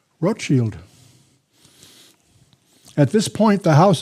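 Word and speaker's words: Rothschild: changed his name to rot Shield not Rothchild that's mispronounced by most Americans rot Shield that's the German word for red shield rth shield at this point the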